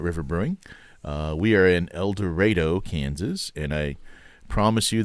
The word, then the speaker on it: El Dorado: We are in El Dorado, Kansas, and I promise you that's how we actually pronounce it there.